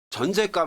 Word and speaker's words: 전셋값: 자, 전세값 할 때는 발음도 전세값 그러기 때문에 사이시옷이 들어가죠.